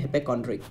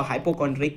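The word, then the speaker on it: hypochondriac: भैया जी बीमार हैं, उसे बोलते हैं हिपोकॉन्ड्रिक, ठीक है। ओके, बहुत लोग इसको हाइपोकॉन्ड्रिक भी बोलते हैं, तो आप लोग जो पसंद आए आप लोग उसको प्रोनाउंस करें, ठीक है।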